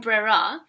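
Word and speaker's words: ברירה: is the concept of, and I hope I'm pronouncing this right, brera.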